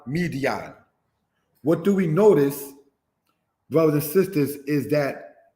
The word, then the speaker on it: Midian: Midian, said as Midyan, means contention.